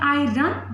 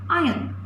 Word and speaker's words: iron: That is not iron, that is iron. R is silent over here.